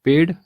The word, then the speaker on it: पेड़: होगा अगली वर्तनी है पेड हम में से कई लोग पेड गलत लिखते हैं हम केवल ड लिख देते हैं जबकि शुद्ध वर्तनी है पेड़ ड में नुक्ता लगेगा तो उच्चारण होगा पेड़ अगली वर्तनी है मातृ